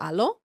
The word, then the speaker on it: Alo: You could tell that it's made for like very little bodies almost and like um I have a few aloe sets from before.